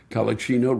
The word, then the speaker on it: Collichino: Collichino, sincerely from you. Collichino rhymes with cappuccino.